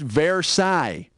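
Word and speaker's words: Versailles: ended like World War I or something it's pronounced verai and I think peigh is what you get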